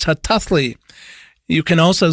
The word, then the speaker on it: Hataałii: double A L double I spelled her tally pronounced her toughly you can also spell it in the more